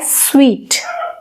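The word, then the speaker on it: suite: इन द सूट number, लेकिन वो सूट नहीं, एक्चुअली वो होता है स्वीट।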